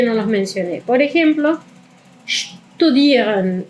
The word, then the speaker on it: studieren: Hay verbos como studieren, studieren. Eso es una u.